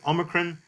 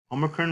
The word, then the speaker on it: omicron: Just like with Omicron, Omicron, remember, is not the long O sound, but the short ah, like in pot or got.